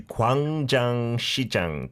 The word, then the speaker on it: Gwangjang Market: Dionis, we're back for part two of Cape Patch with Cedric, who's taken us to Kang Jang Xi Jang today.